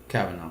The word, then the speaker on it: Kavanaugh: about this guy how many people how to pronounce his last name calico Cabot Cavanaugh great Cavanaugh Cavanaugh pansy alright so me to this Cavanaugh